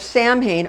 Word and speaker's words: Samhain: It's equally fascinating to become aware that the Celtic pagans consider the festival of Samhain on the 31st of October, Halloween, Samhain.